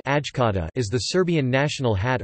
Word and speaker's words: Šajkača: The Šajkača (Serbian Cyrillic: Šajkača, pronounced Ajkata) is the Serbian national hat or cap.